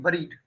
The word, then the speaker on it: buried: क्या पढ़ेंगे इसको? बरीड नहीं, बरीड. Okay, clear. Will pronounce as बरीड.